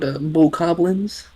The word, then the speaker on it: Bokoblins: How do you pronounce the name of the goblin enemies in Legend of Zelda? They are precisely called bokoblins.